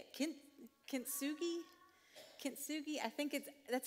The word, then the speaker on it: Kintsugi: Kintsugi? Kintsugi, I think that's how it's spelt, but I'm probably not pronouncing it correctly.